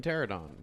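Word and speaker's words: Pteranodon: The P is silent, just like in pterodon.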